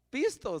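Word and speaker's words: πιστός: verdad porque viene de la palabra pisto no pistos Usted ya sabe que es dinero y pistos es la palabra que que habla de fiel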